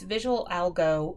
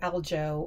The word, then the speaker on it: VisuAlgo: So we are going to go to its visual algo or aljo or however you want to pronounce it. I call it visual go because that's how I see it.